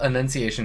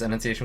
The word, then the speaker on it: Annunciation: it written down uh the the order of enunciation it's Annunciation with an a uh they're named after